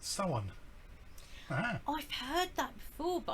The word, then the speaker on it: Samhain: would like to know the correct pronunciation for Samhain is it is pronounced someone I've heard that before